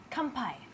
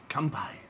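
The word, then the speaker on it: 乾杯: Kanpai. Kanpai.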